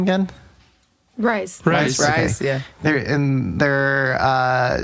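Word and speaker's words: RIIZE: Rise.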